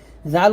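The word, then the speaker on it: ذال: শুদ্ধ করতে পারবেন না জাল উচ্চারণ করতে হবে জিহ্বার আগা সামনের উপরে দুই দাঁতের আগার সঙ্গে লাগিয়ে পাতলা করে জাল আর যা উচ্চারণ করতে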